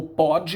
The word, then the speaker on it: pode: O primeiro, na língua portuguesa nós temos esse P-O-D-E, ele pode ser pronunciado como pode ou pôde, não é? O verbo poder no presente é Ele pode, no passado, ele pôde.